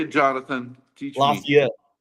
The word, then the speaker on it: Lafayette: it Jonathan teach me Lafayette Lafayette it's not even how it's spelled that's that's that's Louisiana